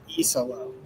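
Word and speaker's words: Iisalo: Tomas Isolo. E as in the letter.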